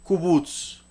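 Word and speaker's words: קובוץ: Entonces esta palabra se pronuncia kubutz.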